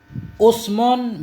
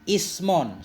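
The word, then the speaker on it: اسم: Usmon bidhammil hamzati wa kasriha. Yang mana aja 6. Usmon, pertama kita baca usmon dengan dhammah hamzah, wa kasriha, dan dengan kasrahnya hamzah. Usmon dan ismon, sudah 2.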